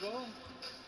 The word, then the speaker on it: Quavo: Quavo. That's how you pronounce it, right?